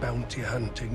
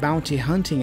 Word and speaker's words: bounty hunting: We normally hear bounty hunting with the T's being fully pronounced. But sometimes, some native speakers might drop those T's and say bounty hunting.